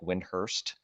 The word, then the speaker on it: Windhorst: Brian Windhorst says it, he says Brian Windhorst, like Windhurst, kind of.